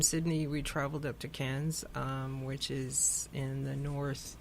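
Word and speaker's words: Cairns: Wow but from Sydney we traveled up to Cannes which is in the north east of Australia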